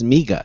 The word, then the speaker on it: MEGA: evidently been mispronouncing it it's not Mega it's migga is that correct that's probably my accent